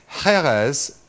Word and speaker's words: Jerez: Which drink is Jerez, or Jerez as some people pronounce it, in Spain famous for?